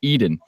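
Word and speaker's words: Edyn: soil moisture meter and it's called Eden and it's spelled like a e dyn and I thought man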